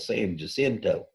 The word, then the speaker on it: San Jacinto: this decisive battle of san jacinto that's the more i think correct spanish pronunciation the best i can do san jacinto uh but growing up in west texas and saying it more anglo-american style it's the battle of san jacinto this is the decisive